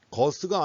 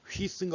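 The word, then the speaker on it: Guus: 거스가 아니라 원래 거기 발음으로 하면 뭐죠? 휘스인가 그렇대요. 휘스 히딩크. 그 네덜란드 발음으로 하면.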